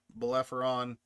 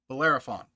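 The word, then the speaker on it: Bellerophon: You've got the Iliad, the Cersei, the Balefon, Ber Bolerafon.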